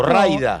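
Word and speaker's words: Mraida: se escribe mra idea la pronuncio la m no la pronunció a esta altura de mi vida o rayda como accede que cada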